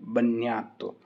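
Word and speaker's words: bagnato: है मतलब गीला है तो बन्यातो, जी रहेगा साइलेंट बन्यातो, नो नो ने अश्युतो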